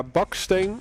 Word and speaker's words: Baksteen: Yeah, Baksteen is the Dutch pronunciation.